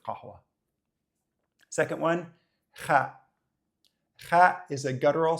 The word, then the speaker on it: قهوة: can't make this sound you can also just pronounce it as a g like a g and try to claim that you're speaking with a bin accent so gahwa instead of kahwa second one is a